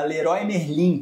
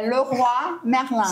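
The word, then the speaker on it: Leroy Merlin: Por exemplo, uma famosa que é a Lerói Merlim. Pessoal, não fala essa palavra desse jeito, é Loi Merlin.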